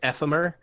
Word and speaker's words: Ephemer: Like Ephemer is like ephemera without the A.